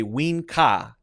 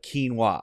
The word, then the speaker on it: quinoa: two mistakes I'm gonna say ween Ka instead of quinoa I'm gonna say win Ka okay just switching to K and the W all right